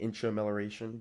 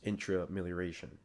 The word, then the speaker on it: Intramelioration: I was saying intramillaration, but it's intra and then amilaration. So together it's intrailaration.